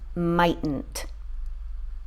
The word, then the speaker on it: mightn't: we have two t's this one right here is silent we say mightn't not mightn't the correct pronunciation is mightn't okay guys that's it